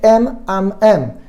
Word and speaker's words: Eminem: En inglés, la letra M se pronuncia M. Él tomó la M de Marshall, la M de Mathers, y lo que hizo fue llamarse M&M, M-I-M.